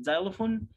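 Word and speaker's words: xylophone: Why is طبعا هنا جايب لي كلمة زيلوفون، طبعا النطق بتاعها الإكس هنا مش منطوق خالص، تمام، لأنه بيعمل صوت تاني خالص غير صوت الإكس، فهنقول X for ox.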